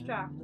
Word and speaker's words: draught: Yeah, Irish draft. I think. I always get confused because it's spelt like draught, but it's like pronounced draft.